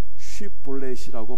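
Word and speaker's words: שיבולת: 그래서 사실 여부를 가리기 위해서 테스트를 했는데 쉿볼렛이라고 발음을 시켰어요.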